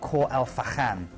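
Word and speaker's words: Khor Fakkan: Then we're going through to Khor El Fakhan. That's how you pronounce it.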